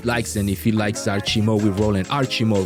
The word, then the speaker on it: Archymo: it's actually Archymo. Archymo. But you can't help how people pronounce words. Yeah. So I like how they call me Archymo.